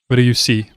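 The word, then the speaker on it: Ryusui: Ryusei is how you say it. It's a kind of a hard name to pronounce.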